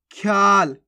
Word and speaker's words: ख्याल: पुष्प पुशप नहीं पुष्प ख्याल कैसे पढ़ेंगे ख्याल अब देखो कैसे पढ़ा अनने इसको ख्या ख्या खा के बाद या का उच्चारण कर दिया ख्या इस प्रकार से देखो लिखा हुआ है तो अपन कैसे पढ़े इसको ख्या ख्या और लास्ट के अंदर अपने ला तो बन गया ख्याल कब्ज कैसे पढ़ेंगे